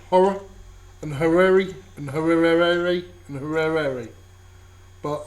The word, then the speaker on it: Horrere: Talking University, and apparently the correct way to say the name of this comic is... It's pronounced Horrere. Horrere. So there you go. That's how you say it.